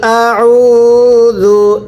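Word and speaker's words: أعوذ: ফালাকি, ওয়াকফ করলে ফালাক, পড়েন উল আউযু, হচ্ছে না, আপনি আউ পড়তেছেন, এই আইনটা উচ্চারণের সময় গলার মধ্যে চাপ দিয়ে পড়তে হবে, পড়েন উল আউযু, একসাথে উল আউযু বিরব্বিল ফালাক, একসাথে বিরব্বিল ফালাক।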